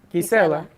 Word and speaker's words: Gisela: It's Gisela, but in Spanish. Gisela.